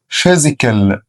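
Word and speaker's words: physical: يلهم انسباير معناها يلهم فيزيكال فيزيكال طبعا البي اتش عندي هنا بنطقها اف فيزيكال فيزيكال فيزيكال يعني بدني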